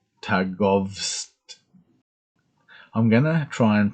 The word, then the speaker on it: Târgoviște: geopolitical map the geo map for um tagovs i'm gonna try and pronounce that these things these names better um